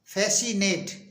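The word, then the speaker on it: fascinate: एफ ए एस सी आई एन ए टीई फेसिनेट फेसिनेट मीस होता है रिझाना अगला ओ बी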